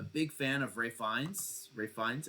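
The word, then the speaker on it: Ralph Fiennes: fan of Ray FES Ray FES and that's that's actually how you say his name he's part of the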